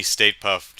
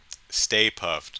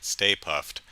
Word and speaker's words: Stay Puft: with the uh uh mini state puffed um stay puft not state puffed stay puft um the collar is